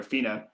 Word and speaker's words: Phina: And what click and what clicks with you is that the city name as well as the forest is spelled ph h i n a. So fina wasn't in the city and